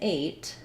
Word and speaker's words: eight: useful and then lastly eight like in eight or weight says the a diphthong we also do spell that with a i or a y so i might think